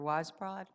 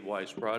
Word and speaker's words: Weisbrod: And I guess speaking first for Edward Feldman would be Mr. Weisbrod. Did I pronounce that correct? Yes, you did. Thank you, Your Honor. Good morning. I am Weisbrod.